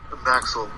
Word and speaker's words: Maxel: you pronounce it it maxel maxel it's like Max well but there's no W just maxel and if you can't